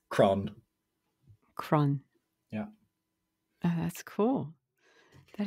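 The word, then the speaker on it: crann: tree in irish uh very simple word it's cron cron yeah that's cool that is very cool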